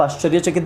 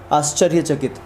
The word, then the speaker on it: आश्चर्यचकित: आश्चर्यचकित, ठीक है, आश्चर्यचकित को आप आश्चर्यचकित बोलिए, अगर आप बोलेंगे आश्चर्यचकित तो वो गलत सुनाई देगा क्योंकि उसका उच्चारण वो है ही नहीं, ठीक है।